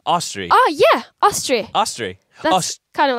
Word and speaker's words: Astrid: uh and one thing the D is actually silent noran asri asri asri AUST it's kind of like a austri austri austri like Austria austri oh yeah austri austri kind of like